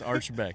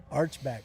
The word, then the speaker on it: Archibek: We've heard so many different ways to say it, but yes, it's Archibek. Yep. Archibek.